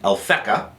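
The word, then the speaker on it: Alphecca: call it by two names the oldest one alfeka and we spell that one a l p h e c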